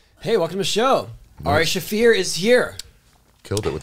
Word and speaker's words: Ari Shaffir: haven't thank you hey welcome to the show AR shafir is here killed it with the pronunciation dude well I did ask you nailed